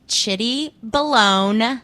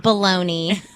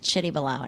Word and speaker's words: Chitty Balone: It's pronounced Chitty Balone, not baloney, as some people like to say. It's Chitty Balone, and it's CHITTY_BALONE.